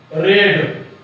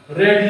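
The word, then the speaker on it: read: क्या तुम पढ़ चुकोगे तो will you have रेड। रेड ये भीतरी है, याद रखना, लेकिन स्पेलिंग वही होगा, इसको पढ़ा जाएगा रेड।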